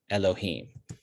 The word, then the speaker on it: Elohim: is with these vowels these vowels don't come from the word adonai they come from the word elohim and when we see it pronounced like this we are supposed to pronounce elohim as indicated in the